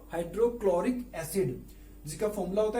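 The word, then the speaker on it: hydrochloric: हाइड्रोक्लोरिक acid में, क्लोरिक में H silent है, तो इसका प्रोनाउंसिएशन क्या हुआ? हाइड्रोक्लोरिक एसिड, जिसका फॉर्मूला होता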